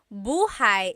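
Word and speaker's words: buhay: Shir said I always make a mistake with bah and so bahigh is house buhai is your life.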